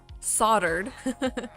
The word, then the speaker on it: soldered: It's It's spelled soldered, but you say it soldered.